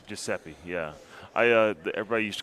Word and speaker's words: Giuseppe: Joe massero yeah I mean he says it's pronounced Giuseppe Giuseppe yeah I uh everybody used to call him